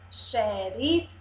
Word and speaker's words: Xerife: agora o último som eu sou o x com som de ch Vamos ler shampoo olha o som mudou tampo vamos ver os pedacinhos chão um só tem dois e sílaba e os o mudou para ch aqui Sheriff Sheriff Xerife 3 sílabas e o